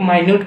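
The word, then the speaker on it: minute: एक माइन्यूट पढ़ते हैं, माइन्यूट माने थोड़ा, कम, छोटा।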